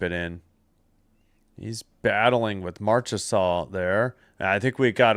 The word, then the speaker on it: Marchessault: Marchessault.